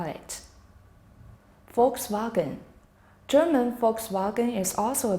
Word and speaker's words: Volkswagen: Well, their V also become F. So, the biggest German car maker is Volkswagen. The L is in fact silent. So, the word is pronounced Volkswagen.